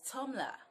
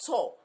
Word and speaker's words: Tumblr: Like, T-U-M-B-L-E-R is Tumblr. It's not Tor.